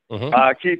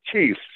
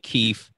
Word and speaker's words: Keith: And do they call you Keith with an F? I'm so used to that some people can't pronounce TH that I don't, I barely notice it anymore.